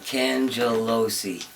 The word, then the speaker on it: Cangelosi: yeah I like mister Cangelosi yes I chose that out there like that I like that how do you pronounce at the end of yourself it's Cangelosi mister can Joe Losey alright